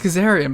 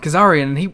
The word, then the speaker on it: Kazarian: Eric what's his like I Caesarean but Scott said Kazarian he wouldn't [ __